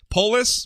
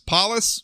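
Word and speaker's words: Polis: paus I apologize for not knowing how to pronounce this Man's last name it's p o l i s polus paus I'm sorry if I'm getting that wrong anyway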